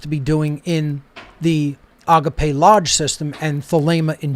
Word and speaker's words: agape: placed on certain syllables the word agape is pronounced just as i just pronounced that agape it's not agape agape and then thalema